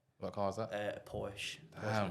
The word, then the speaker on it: Porsche: A Porsche. Damn. Porsche Macan, man. So you know it's serious when your car rhymes with horse.